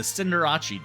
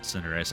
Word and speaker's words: Cinderace: And also let me know if you're excited for next week's deck, the Cinderace deck. I know it's pronounced Cinderace. I don't care. It's Cinderace now.